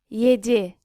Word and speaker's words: yedi: 7 is Yedi. which looks and sounds a bit like Jedi.